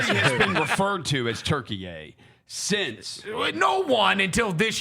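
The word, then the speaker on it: Türkiye: Then they remixed it. Now you got to call them Turkiye.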